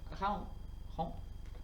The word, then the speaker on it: Craon: Donc, c'est le châle Raon. Ça s'écrit Craon. Voilà.